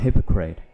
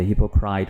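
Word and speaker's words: hypocrite: तुम एक मुनाफिक हो, यू आर अ हिपोक्रेट, यू आर अ हिपोक्रेट। दोस्तों इसको गलत प्रोनाउंस मत कीजिएगा, यानी इस तरह से हिपोक्राइट वगैरह ऐसा इसको बिल्कुल नहीं बोलना।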